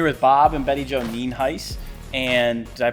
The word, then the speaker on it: Nienhuis: I'm here with Bob and Bette Jo Nienhuis. And did I pronounce that correctly?